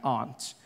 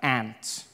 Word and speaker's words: aunt: For instance, I pronounce the opposite of uncle as aunt. I say my aunt. out here. You say my aunt, which to me is an insect, which made me look